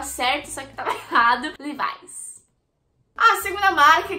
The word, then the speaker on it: Levi's: Bom, como vocês estão percebendo, não se pronuncia Levis, e sim Levi's. Levi's. Enfim, é Levi's, é bem diferente.